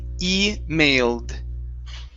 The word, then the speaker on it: emailed: Okay, ed ending instead of emailed. Okay, the e is silent, so we say emailed.